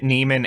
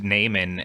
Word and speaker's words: Neiman: it Neiman Neiman yeah I feel like they pronounced it Neiman and Neyman in the movie and kept switching is they're both is